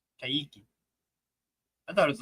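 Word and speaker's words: Kayky: The Q in Portuguese before E or I is pronounced like K. Okay. Kiki. Kiki.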